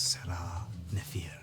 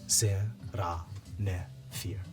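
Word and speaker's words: Serah Nef-ir: Before I was what I am, I was known as Sarah Nefir. Salam, dude. How do you spell that? SER-AH capital NEF dash IR. Okay. Sarah Nefir.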